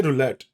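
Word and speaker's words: roulette: अरे रशियन में रोले होता है। छह होते हैं। इसमें पांच है। पर वो आपको जब उंगली and guys the टी इज not silent. You कैन से रूलेट।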